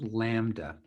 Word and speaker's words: lambda: some greek letters in this chapter this is pronounced lambda okay it's a greek letter lowercase lambda is